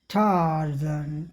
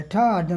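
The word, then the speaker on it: Tarzan: None रोटिक, जैसे टार्जन नाम हो गया, टार्जन में आर का उच्चारण नहीं होगा, इसके बजाय टार्जन, टार्जन, आ बड़ा हो जाएगा, टार्जन, स्वर लंबा हो जाएगा, ठा।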